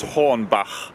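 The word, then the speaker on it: Hornbach: Home Depot which is called horn ba it's pronounced horn ba okay plastic wrap and tape do something strange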